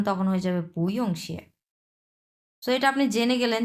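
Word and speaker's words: 不用谢: mutton ইয়ংও চানা mutton দুইটা পাশাপাশি বসছে সো উচ্চারণ তখন হয়ে যাবে পইংশি এটা আপনি জেনে গেলেন যে চাইনিজরা কি বলে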